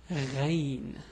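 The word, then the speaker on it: غين: Anyway, so the name of this letter is Ghayn. Yeah, it's a bit hard also to pronounce. The way the pronunciation is Gh. Maybe it's similar to the French R somehow, but anyway, it's R. So it's R, R, R. Again, the pronunciation is R, R, R.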